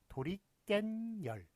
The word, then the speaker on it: 도리깻열: 예, 그 도구가 도리깨인데 도리깨 플러스 열 이랬더니 발음이 어떻게 됩니까? 도리깬열. 도리깬열. 깬 니은 덧붙죠. 그 다음에 열 니은 덧붙습니다.